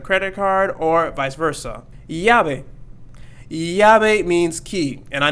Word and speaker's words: llave: be very challenging because we had the double L here, so it's going to make the Y sound there. Llave, and it's not going to be lave.